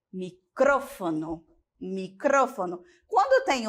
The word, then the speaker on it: micrófono: Microfone e micrófono.